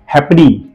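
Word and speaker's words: halfpenny: है, वो स्पेलिंग है हैपनी। अब स्पेलिंग देखिए, HALFPENY, हैपनी है, ओके। यहां पर एफ साइलेंट बोलना है, HALFPENY, जैसे इसको हैपनी बोलता है, को साइलेंट रखना है, बाकी कोई वर्ड में एफ साइलेंट नहीं जाता है।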